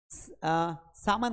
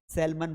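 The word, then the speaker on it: salmon: अगला वर्ड है सामान मछली। एक मछली होती है। है ना? उसको क्या कहा जाता है? उसको लोग पता है क्या पढ़ते हैं? सेलमन पढ़ते हैं।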